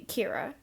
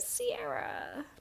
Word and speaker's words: Kira: to get people to pronounce it the correct way which would be Kira but being as over in America it gets at a Ciara because the u.s. loves mispronouncing things yes